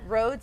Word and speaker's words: Rhodes: It's Rhodes RHODES. Rhodes like what you drive on but spelled differently.